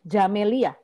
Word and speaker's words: Camelia: itu teh bacanya berarti kalau nama saya Camelia pakai C bacanya jamelia nghe an itu ya